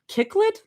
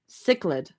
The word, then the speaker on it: cichlid: Roomie like a velvet kicklet. Kicklet? Is that how you say that? these freaking words. I'm like I like a velvet cichlid. Cichlid cichlid. That's how you say it.